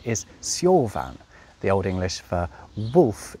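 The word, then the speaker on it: seofon: Now, in Old English, an F was pronounced how we pronounce it now if it was at the start or the end of a word, such as fader, meaning father, or wife, meaning woman. But when it came in the middle of a word, specifically between two vowels or after a voiced consonant, of which L is one, something amazing happened. It was pronounced like a V.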